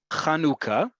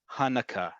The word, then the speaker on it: Chanukah: It's Chanukah.